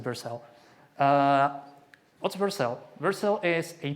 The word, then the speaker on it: Vercel: most use cases is Vercel, or Vercel. I'm going to pronounce it Vercel.